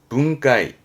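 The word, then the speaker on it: 分解: 않겠나 봤습니다 분해하는 거죠 발음은 눈가이 붕가이 분 배짜지 분배 발음은 눈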